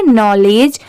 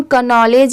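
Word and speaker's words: knowledge: इसे हम पढ़ेंगे नॉलेज। अब यहां पर देखिए स्टार्टिंग में के दिया हुआ है तो इसे हम कनॉलेज या केनॉलेज भी पढ़ सकते हैं। बट नहीं यहां पर के लेटर साइलेंट है।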